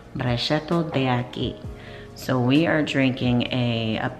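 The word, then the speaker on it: Brachetto d'Acqui: Actual pronunciation, Brachetto de Aki.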